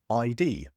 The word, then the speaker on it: IDEE: Al is the founder and CEO of ID, that's spelled IDEE, a cybersecurity company focused on what